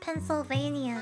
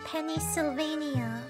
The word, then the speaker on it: Pennsylvania: here that's like me when i mispronounced pennsylvania and i was like penny sylvania i know someone who